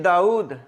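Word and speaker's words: داؤد: लफ्ज नंबर 14 देखें दाऊद अक्सर लोग इसके इंग्लिश में स्पेलिंग लिखते हैं डी ए यू डी दाऊद नो यह जो वाव है यह साइलेंट नहीं है यह मुतहर है और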